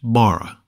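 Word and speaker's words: בָּרָא: in these chapters the word for created is pronounced Bara and means made from nothing something brand new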